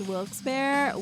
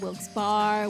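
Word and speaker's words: Wilkes-Barre: but yeah um these the residents of that town have never agreed to an official pronunciation oh my gosh it's wilkes bear wilkes bar wilkes berry oh my goodness that's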